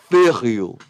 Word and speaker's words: Verheul: But it's pronounced Jeroen. So Verheu are pronounced Jeroen, and then the surname Verheul is pronounced Verheul. Verheul. So the V is F and the J is Y.